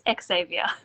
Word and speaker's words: Xzavia: You keep dropping the X on my name. It's Xzavia. Oh, I'm sorry.